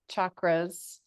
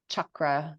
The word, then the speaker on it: chakra: when a teacher says chakra like chak instead of chakra so a CH in Sanskrit is pronounced check so I'm G invite